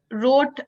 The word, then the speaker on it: wrote: Does wrote have any silent letter in it? Ma'am, W. Ma'am, W. Ma'am, W. Okay. So, Adya, do you agree? Wrote, is there any silent letter in wrote?